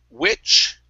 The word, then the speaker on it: which: Let's go to the word which. Right here, instead of we, which, use a short I. Which. There you go.